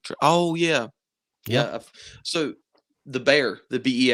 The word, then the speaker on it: Bexar: you seen the Bexar bear I guess it's technically bear because that's how you pronounce the place in Texas um have you ever